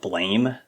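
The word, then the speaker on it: Blame!: and a anime called blame um I think it's supposed to be pronounced blam but it's blame with an exclamation anyways uh if you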